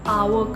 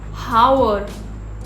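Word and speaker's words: hour: घंटे बोलते हैं, इसको आवर कहा जाता है. So first thing first, H यहाँ पे साइलेंट होता है तो इसको हावर और आर और हार मत बोलिए, इसको कहा जाता है आवर.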